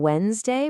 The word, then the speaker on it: Wednesday: You can really hear it in Wednesday, where that D is silent, and Saturday.